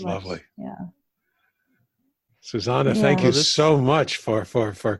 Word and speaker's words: Susanne: Yeah, and the way you say my name is Susanne, but it is spelled with an E at the end, but it's German.